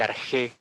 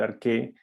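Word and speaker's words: ἀρχή: donde partimos nosotros no el arte o el arte se puede pronunciar de las dos maneras dependiendo de digamos que la evolución del idioma griego pues en que se puede pronunciar esas dos maneras pero entendiendo los nuevamente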